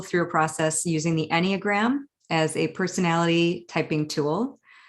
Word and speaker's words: Enneagram: So was it Enneagram? Is that what you said? It's actually Enneagram. So it's Enneagram.